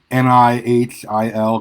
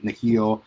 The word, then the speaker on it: Nihil: It's Nihil, clearly taken from the word like nihilistic or annihilate. I've been calling them the Nihil.